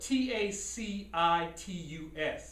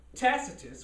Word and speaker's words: Tacitus: a dude named tickatus it's spelt t-a-c-i-t-u-s it could be tacitus i'm not sure how they pronounced it back then but anyway he was an ancient historian who lived um a.d 64.